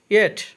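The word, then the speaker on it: yet: ইয়েট অর্থ এখনও, লাস্টে টি এর উচ্চারণ ঠ হবে।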